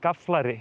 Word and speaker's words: Gaflari: It's just to say it a little bit slower, like Gaflari. It's like it's written very differently from how you say it.